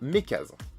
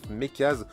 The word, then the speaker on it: MeckaZ: avec cette police aérographe, Mekaz ou Mekazen, moi je serais plus à le prononcer Mekaz.